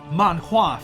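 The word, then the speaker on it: manhua: I explain this um they're the exactly the same word just pronounced in Korean Japanese and Chinese so manwa for for Korea Korea and uh Mana for China uh China and Taiwan and uh manga for for Japan obviously it's really cool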